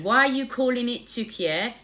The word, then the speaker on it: Türkiye: While English speakers have historically referred to the country as Turkey, it has been spelled and pronounced Türkiye, Türkiye, in Turkish since the establishment of the modern Turkish Republic in 1923.